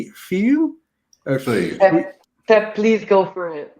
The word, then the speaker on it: Fille: You might be able to help me with the pronunciation. Fille? Pep, please go for it. You've practiced enough. Fille.